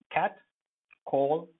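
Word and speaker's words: catcall: So cur, cat, call, cat call. Cat call will have both the syllables stressed because it's a compound noun.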